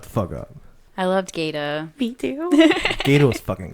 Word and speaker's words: Gata: Yeah, Gata. Not Gator.